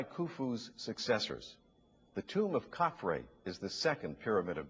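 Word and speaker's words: Khafre: were built by khufu's successors the tomb of kaphri is the second pyramid of giza kaphrae is spelled k h a f r e it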